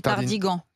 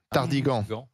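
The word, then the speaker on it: Tardinghen: côté du marais de Tardingen, je crois. Il paraît qu'on dit Tardigan. Tardigan.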